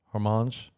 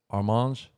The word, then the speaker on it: Hermann: her name right wrong hormones i don't think you pronounce the h armand that sounds better oh she's french hormones my name is